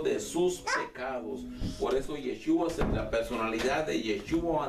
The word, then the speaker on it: Yeshua: Y por último, Yeshua. Se escribe Y-E-S-H-U-A.